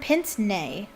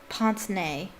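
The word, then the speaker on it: pince-nez: pins a pair of pins nay that's how you pronounce it that's how the french pronounce it ponce nay i'll just say it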